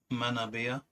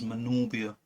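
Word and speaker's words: Manorbier: This was on holiday in Manabia. Apparently that's how you're supposed to pronounce. I thought it was Manorbia, or Manorbia, before I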